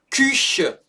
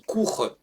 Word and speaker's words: Küche: Die Küche. Die Küche. Et pas die Kuche. Die Küche. Je rappelle que le U avec le umlaut, ça se prononce U et pas OU.